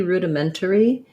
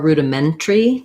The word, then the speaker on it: rudimentary: may have two options it might be rudimentary or rudimentary depending on if we reduce that syllable um the syllable stress is on the ment there's our red tent vowel that we were just modeling for dana um the first vowel rude is an oo tense u sound so we probably have